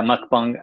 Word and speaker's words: mukbang: well, lots of scholarship, but in particular, this mukbang, is that how you say it? Yeah, mukbang, and the single nation approach to media.